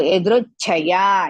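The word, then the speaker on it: यदृच्छया: And chaya, small cha and big cha. Big cha, so it's a Mahaprana. So, Yadruchaya. Ya is dirgha.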